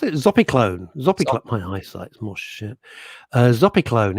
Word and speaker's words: zopiclone: Lisa James, Russ, if all else fails, ask your GP for a low dose of Zopicon. Zopicon. What the hell? How do I pronounce it? Zopiclone.